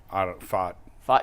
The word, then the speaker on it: Pfaadt: Brandon Pat. How do you pronounce that, Jason? Fought.